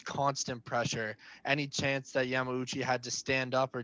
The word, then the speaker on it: Yamauchi: A good fight to note for that is the fight that he had in Bellator against Yamaguchi, I want to say his name is. Yamauchi.